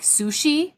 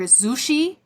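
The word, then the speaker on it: Xuxi: So his name is it's kind of funny the way you pronounce it. It sounds like sushi or zushi.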